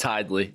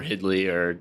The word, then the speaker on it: Hidlay: do you pronounce it it's Hyde Lee I think one of the kind of joke I tell people is that we kind of have two names and like the Midland County home town were Hyde Lee and in the wrestling community were Hitler yeah or what you know